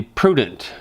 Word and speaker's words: prudent: And the Bible encourages one to be prudent. Prudent rhymes with student.